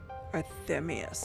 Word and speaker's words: Arthemius: that was arthemius Llewellyn arthemius that's how you say his name wow oh okay AC